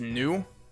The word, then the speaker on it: nous: O-U-S in French is just pronounced as O. It's pronounced as nous.